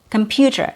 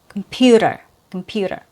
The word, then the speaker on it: computer: So it's not strange to hear computer. That's proper, it's standard, and it's a little bit formal. But in everyday, informal, common pronunciation, it's going to be changed to a fast T sound. So it's going to be der, computer.